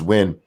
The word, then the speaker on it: Nguyen: Golf City Cult of Krill says it's Nguyen. It's pronounced Win.